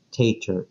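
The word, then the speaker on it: TATAR: cinco letras por ejemplo el punto de referencia t a t a r se pronunciaría Tacher en inglés los procedimientos de vuelo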